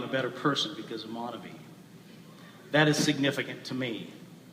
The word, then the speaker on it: MonaVie: while others pronounce the word MonaVie. For me, it will always be MonaVie.